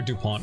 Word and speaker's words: Dupont: It's Super Dupont in it. You probably don't even pronounce the T, right? It's French. It's probably like super dupon, you know.